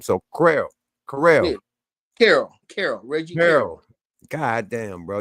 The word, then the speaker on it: Carroll: Yeah, I don't think the bodyguard's name is Williams, and he needs to say Reggie Carroll. Stop calling him Reggie Carrell.